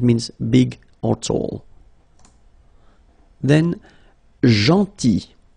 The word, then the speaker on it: gentil: Then gentil. So remember this final L is not pronounced.